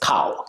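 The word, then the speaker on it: kau: g k a u you can shorten it to just cow k a u it sounds exactly like the you know the animal that produce milk cow c w but we spell it Ka a you can use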